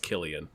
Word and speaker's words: Cillian: know just real quick it's pronounced Killian I know Dave and I have that up in the past and we got plenty of comments about it so I'm not gonna